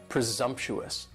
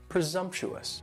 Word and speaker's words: presumptuous: And presumptuous has 4 syllables and the stress is on that second syllable. And the S almost sounds a little more like a Z, presumptuous, presumptuous.